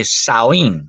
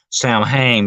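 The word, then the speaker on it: Samhain: of the holiday by the way is truly saen that's how you pronounce it some people say thinks it's pronounced Sam H but no it's saen it's a it's a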